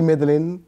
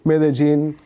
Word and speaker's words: Medellín: Qu'on prononce ici Medellín, Medellín, mais oui, j'ai quitté l'université, oui.